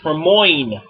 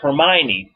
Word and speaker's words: Hermione: I thought it was pronounced Hermione instead of Hermione.